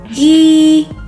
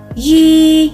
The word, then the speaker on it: ghi: Ghi nhớ, ghi nhớ. Okay, this one the same sound with the letter G. G, both of them are pronounced like G, but when you write, you remember the compound consonant G.